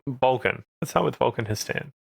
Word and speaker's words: He'stan: But Histan or H or however you want to pronounce it is like that's his name. It's Histan.